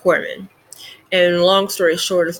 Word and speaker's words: corpsman: kind of throws you off um but it's pronounced corpsman and long story short is basically a military